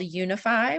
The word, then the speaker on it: Younify: I'm the CEO of an organization called Unify, which is spelled funny. It's YOUNIFY.